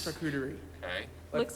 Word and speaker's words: charcuterie: wondering, do you know how to pronounce this word? Charcuterie.